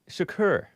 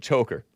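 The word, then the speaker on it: Chokr: many times before so his last name is pronounced according to these people sakur Shakur like Tupac's occur Shaq a k u r even though it's spelled c-h-o-k-r I was pronouncing it choker and I was pronouncing a Hassan like our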